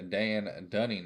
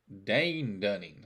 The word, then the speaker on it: Dane Dunning: pictures you got a Dan Dunning I believe Dane Dunning I knew I said it wrong for uh the Rangers